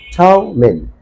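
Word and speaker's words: ptomaine: The correct pronunciation of this word will be that T-O toe, toe, T-O, toe, M-A-I-N-E, min, toe, min, toe, min, means curve learning.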